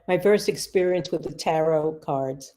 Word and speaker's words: tarot: And that's my first experience with the tarot cards. Is that how you pronounce it, tarot? Yeah. Or tarot. Yeah. Tarot. I was working on the Not psyche. Torah. Not Torah. Not Torah. No, not Torah.